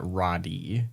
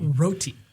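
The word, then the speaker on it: Rotti: oh okay that's I I would have pronounced that Roddy and that's why I was thinking rotten okay I see Rudy pronouncing it like the name of a dessert I know of okay gotcha yeah let's go with that then Rudy Roti okay good so they give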